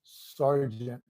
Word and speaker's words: sergeant: to other people and it's very common but some people like we mad they're getting but hurt pronounce it right sergeant I got to believe